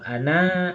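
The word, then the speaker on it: أنا: Nah kalau ana aksaru ana ana tuh lah aja bahasa Arab apaang. Ah. A kalau pakai nol tu buin coba. Nah, dibacanya pendek ya. Jadi walaupun itu tulisannya panjang tapi macanya pendek.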